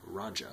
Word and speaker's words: Roja: house of raja parfums raja i think that's how he pronounces it um two more of